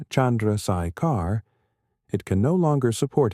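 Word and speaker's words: Chandrasekhar: a value known as the Chandrakar limit, pronounced Chandraikar, it can no longer support itself against gravitational collapse.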